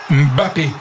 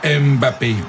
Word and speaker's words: Mbappé: Alors vous avez vu comment Elvin il prononce bien, il dit bien Mbappé et non pas Mbappé. Dans la langue on dit Mbappé.